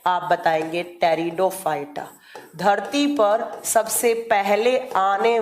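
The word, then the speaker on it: Pteridophyta: आपका आता है टेरिडोफाइटा जो लिखा किस जाता है पी से और प्रोनाउंस किस किया जाता है तो टी से टेरिडोफाइटा टेरिडोफाइटा टेरिडोफाइटा इसे कैसे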